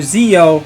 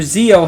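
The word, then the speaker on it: Zi-O: Common Rider Zo, that's Zi- O, not Zo like Power Ranger Zo.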